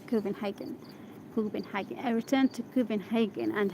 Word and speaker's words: Copenhagen: Do I pronounce it correctly? Copenhagen. It's not Copenhagen. Copenhagen.